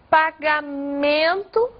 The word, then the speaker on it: pagamento: Por exemplo, pagamento, a sílaba forte dessa palavra é no man.